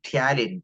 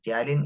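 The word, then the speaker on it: ptyalin: aware about it uh talin talin is a word used for salivary Ames p is silent here talin so this is the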